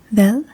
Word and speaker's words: Hvad: Hvad hedder du?